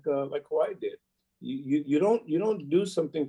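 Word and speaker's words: Kawhi: How do you pronounce his name? Kwali? Kwali.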